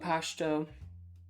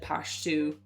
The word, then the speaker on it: Pashto: It always bothered me when people said Pashtu. I'm like, where's the U? Where's the U in Pashto? Maybe that's what they when my client said the word, they didn't pronounce it that way.